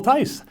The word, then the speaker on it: Thys: There's some stories with people T-H-Y-S. The H is silent. Talk about that for just a second, please. The name doesn't speak for itself, we'll say, and we've been called lots of different things, but the H is silent, and it does rhyme with time real nice.